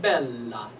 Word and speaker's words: Bella: consonants right in Italian when you have two L's you pronounce both of them so you close to the L and then you explode the L on the next one so we get Bella I'm not saying Bella